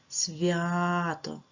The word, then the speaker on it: свято: вами зробимо звукобуквений аналіз давайте поставимо наголос свято так на склад ВІА тепер визначаємо приголосні та голосні с с с приголосний твердий ставимо рисочку в в приголосний але зверніть увагу далі йде буква я вона пом'якшує його тому читається вів вона віддала пом'якшення а сама залишилася звуком а-а Це голосний наголошений тому